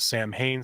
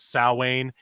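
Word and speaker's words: Samhain: Uh we're talking about I guess depending on how you pronounce it, some call it Sam Hayne, some call it saw Wayne is the festival of shadows.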